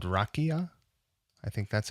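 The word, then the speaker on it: rakija: on importing some liquor from the balkans called rakia i think that's how you pronounce it it's spelled r-a-k-i-j-a i'll put a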